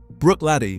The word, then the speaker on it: Bruichladdich: Bruichladdich, for those wondering how to say it.